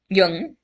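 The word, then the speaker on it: Jung: Oh, there's one Freud and is it Young? Is that how you pronounce Yung?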